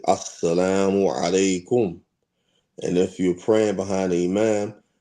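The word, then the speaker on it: السلام عليكم: say assalamu alaikum and say it correctly, not sa alaikum or assalamu alaikum, not like that, not saying it like that, saying it correctly, assalamu alaikum.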